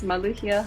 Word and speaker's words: Maluhia: My full full name is Maluia.